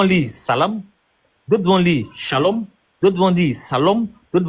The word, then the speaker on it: shalom: Donc la consonne qui est au début de shalom là quand c'est chez les Arabes, ça se prononce S. Quand c'est chez les Hébreux, ça se prononce che.